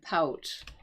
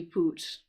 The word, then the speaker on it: pout: And check out that pronunciation on that word, pout. Because it looks like, actually, it looks like it could be poot too, but it's this actually pout pronunciation.